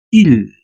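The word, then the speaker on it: île: Entonces, la pronunciación sería il.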